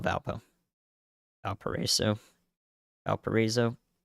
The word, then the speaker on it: Valparaiso: there we go yeah let's uh let's call Valpo let's call Valpo Valparaiso El parizo Valparaiso thank you thank you thank you thank you